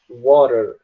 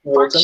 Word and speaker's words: water: A palavra água, o americano fala water. Ele pega o T e transforma em R. Mas no caso, britânico, australianos falam water mesmo.